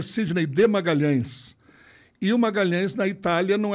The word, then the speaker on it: Magalhães: o meu nome é Sidney de Magalhães eo Magalhães na Itália não é pronunciado LH não existe então era Magalhaes Magalhaes Magalhaes não existe nada pior do que